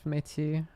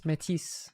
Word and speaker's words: Métis: But it's métis, like with an S-E. Although, you know, it's called métis, like it's spelled METIS, but then in English it's in French Canadian it's métis.